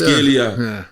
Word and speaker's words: Kvaratskhelia: You got Kvaratskhelia. Did I say it right? You got it right, yeah. I actually got it right. I was surprised. Kvaratskhelia, Messi, Maradona.